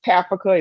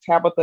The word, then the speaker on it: Tafika: Like it's Tafika, it's not Tabitha, it's not Tafaka, it's Hmm.